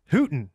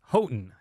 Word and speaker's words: Houghton: I mean, you know, like, just sound it out, people. Houghton, right? Well, actually, the road is actually pronounced Houghton.